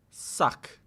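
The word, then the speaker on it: ssak: Suck. Suck. It's a long s. You actually So that's real. You actually do pronounce the two s's. You just hold the s sound longer.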